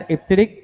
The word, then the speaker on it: EBCDIC: Now this is pronounced as EBCDIC and it is an 8 bit.